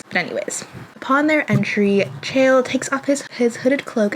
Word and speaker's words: Chaol: Full disclosure, for the first time I read this, I pronounced it Chol in my mind for at least 75% of the book. I have nothing to say. Maybe Chaol, maybe Cole, maybe Chol.